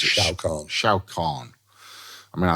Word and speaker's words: Shao Kahn: You are, how do you pronounce it? Shao Kahn.